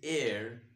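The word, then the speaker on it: heir: h-e-i-r but we don't see here we say air air in air in here only i have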